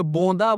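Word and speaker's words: Bodin: France में होता है फ्रांसी लोगों के नाम का उच्चारण जा रहा था नाक से होता है तो यह बोंदा बोलते हैं लिखते बोदिन मितवा फ्रांसवा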